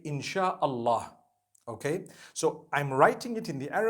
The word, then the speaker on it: Insha'Allah: They pronounce the S-Y the way we pronounce S-H. So they can write it how they want for as long as when people read it, they read it Insha'Allah.